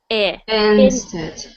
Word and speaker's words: instead: one for me instead so that is not e it is instead in instead good so sometimes even with this one try saying that one this this good so just making sure your I sounds are always I not e so instead I